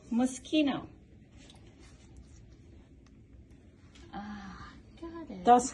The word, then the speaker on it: Moschino: How do you pronounce this sucker? Mosquito. Moschino.